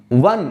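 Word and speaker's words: one: तो हम जब वन लिखेंगे तो बेशक शुरुआत में ओ लिखा है जो कि वॉवेल है, लेकिन हम उसको प्रोनाउंस कैसे कर रहे हैं? वी यू एन, वन अर्थात व, वी का साउंड देना पड़ेगा, इसलिए हमको आ लगाना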